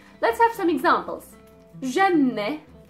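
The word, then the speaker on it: جنة: Janne, janne. Janne means heaven. Janne. Again, it has the noon and then the T marboota, so the pronunciation of the T was e, janne.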